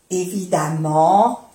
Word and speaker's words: évidemment: Évidemment, il y a un frigo ou un frigidaire. Évidemment, quería souligner, llamar la atención, se dice évidemment, se dice a, comme femme.